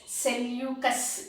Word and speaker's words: Seleucus: ambassador of seleucus nicatore the pronunciation is cellucas you have to remember this it is though the spelling is a little different from my pronunciation the correct pronunciation pronunciation